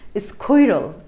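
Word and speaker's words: squirrel: Dash এই উচ্চারণটা হচ্ছে একটু একটু অন্যরকম আর কি, স্কৈরল এরকম আর কি উচ্চারণটা। স্কৈরল কথার মানে হচ্ছে তোমার কাঠবিড়ালি, ঠিক আছে, স্কৈরল।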